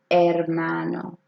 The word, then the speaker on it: hermano: saying and man oh I'm not pronouncing the H because H s are always silent say a brother in your house right now una mano un hermano can I get a